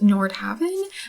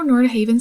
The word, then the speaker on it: Nordhaven: into Nord Haven or supposedly this is pronounced Nord Haven but I really like how Nord Haven sounds and that's what it even looks like to me so that's what I'm going with so here is the world